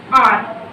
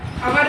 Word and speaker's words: hour: उसके बाद क्या है आपका आर, HOUR। इसको क्या बोलते हैं, अवर भी बोलते हैं और इसको हम आर भी बोलते हैं, ठीक। यहाँ पे किसका यूज होगा हमारा, एच क्या है इसमें साइलेंट है।